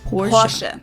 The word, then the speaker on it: Porsche: Porsche. It was Porsche. Porsche. Porsche. It's not even like she's not really saying the R either. It's like Porsche.